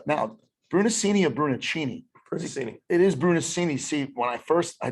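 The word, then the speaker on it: Brunacini: and he's uh now brunocinia brunocini it is brunoscini see when i first i thought it was only brunochini because that's the italian pronunciation um yeah yeah so yeah it's like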